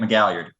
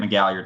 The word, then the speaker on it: McGalliard: My name is McGalliard. I'm on Twitter at McGalliard, spelled like it sounds with all those vowels.